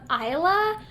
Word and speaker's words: Isla: But then I was reading that the common pronunciation is, I think it's the Scottish pronunciation of Isla, but no, it's actually pronounced Isla, purposely by the author.